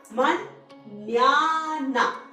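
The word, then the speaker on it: mañana: माना माना होगा इंग्लिश में हम अगर इसको प्रोनाउंस करें तो, बट यहाँ पे मान्याना जो आपको बताया था आधा न और य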